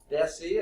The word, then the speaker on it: deci: Deci, a decimal point, that's the small, okay, soft C sound.